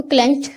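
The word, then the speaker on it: clenched: हिज अपनी, क्लेंच्ड बंद, और को क्लेंच्ड बोलेंगे, टी की आवाज़ निकालेंगे लास्ट में, क्लेंच्ड।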